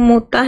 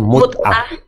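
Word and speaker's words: متعة: marilah supaya kuberikan kepadamu mutah dan aku ceraikan kamu. Oke, bacanya mutah kepadamu mut'ah dan aku ceraikan kamu dengan cara yang baik.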